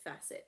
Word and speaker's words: facet: In general, like in any part of facet of life, faucet, I think it's pronounced facet, not faucet. Faucet's what water comes out of.